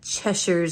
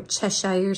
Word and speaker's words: Cheshire: this one is called chesher Secrets or Cheshire Secrets I say chesher that's cuz I watch a lot of British TV and that's always how I see people pronounce it and in this one